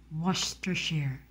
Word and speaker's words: Worcestershire: still have to search on this how we pronounce this word was to sheer wash to share was to share was to share wash to